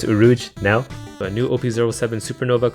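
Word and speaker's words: Urouge: supernova in the manga oh well or op07 urog oh crap I just found out he's pronounced uruj but the translation that I downloaded spelled it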